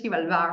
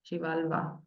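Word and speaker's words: Xibalba: negative situation recently and so like sometimes there's shivala around you you know what I mean shivala by the way let me spell that word is the Mayan underworld chivala and I was telling him I'm so happy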